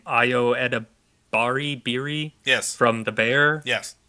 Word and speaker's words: Ayo Edebiri: There's also been rumors of, I can't remember how to say her name, Ayo Edebiri, yes, from The Bear, yes, that she's going to be starring in it.